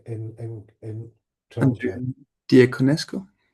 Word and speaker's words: Diaconescu: But also Andrea, Peter, how do you pronounce the second name in Toronto? Andrea Diaconescu?